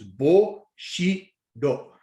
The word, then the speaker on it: Bushido: And it's broken down into 3 syllables. Bushido.